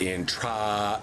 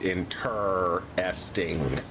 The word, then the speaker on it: interesting: Um it is not intra, it's interesting.